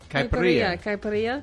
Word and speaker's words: caipirinha: You have to pronounce it for me, though. Caipirinha.